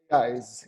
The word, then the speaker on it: Ieyes: Today we are joined by the director of PSYCH-K, Duccio Locati himself from, do I pronounce it correctly? Is it Ieyes? Ieyes? How do you say your business name? Ieyes, yes.